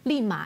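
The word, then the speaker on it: 利马: Y sabes que Lima, o sea, la pronunciación de Lima en chino, Lima, este ma es caballo, justamente. Y li significa como suerte, como viento en popa, o sea, todo vaya bien.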